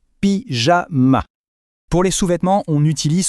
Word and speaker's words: pyjama: Il faut juste faire attention à la prononciation. On entend bien le son J, pyjama.